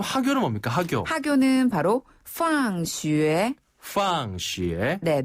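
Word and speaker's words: 放学: 학교 학교는 바로 팡슈에 황쉬에네 놀 방자를 쓰는데요. 방학이라고 읽혀지지만 그 뜻이 아니라 오히려 학교다란 뜻이에요.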